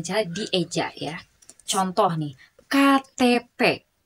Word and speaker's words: KTP: ya contoh nih KTP bukan Ketep ya tidak dibaca Ketep tapi tetap KTP die Eja ya atau misal contoh lain NKRI bukan Negeri tetap NKRI karena itu Dis e karena itu termasuk singkatan maka dibacanya atau dilafalkannya itu dengan cara dieja NKRI ada yang tahu